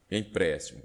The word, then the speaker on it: empréstimo: Então, neste caso aqui, por exemplo, nós vamos ver aqui, ó, então, empréstimo, sílaba, o MO última, o TI penúltima e o PRES antepenúltima, ok?